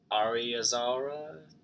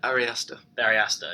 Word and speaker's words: Ari Aster: And hopefully Ari Azara, I don't know how to pronounce the director's name, and the writer? Ari Aster.